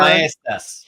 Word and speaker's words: Maestas: Maestas. Yeah. Thank you, Tanya, for picking that up. Every letter is pronounced in my name in some way.